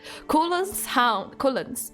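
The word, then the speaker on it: Culann: Oh my god, there's no pronunciation at all. Help. Cullen? Cullen? Cullen? Cullen? Cullen. Okay, Cullen.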